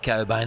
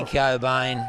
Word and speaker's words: Cobain: I wonder if it's in relation to Matt Cobain, that Wallaby second rower of the early 2000s. Is that actually how you pronounce that yeah, name? it's silent CK, mate.